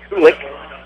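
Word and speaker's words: Kulich: Kulik is spelled K-U-L-I-C-H, I believe, and it's pronounced Kulik.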